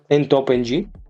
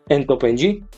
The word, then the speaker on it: ntopng: And last but not least, I've installed ntopng. I think that's the best way to pronounce this, ntopng, which is a super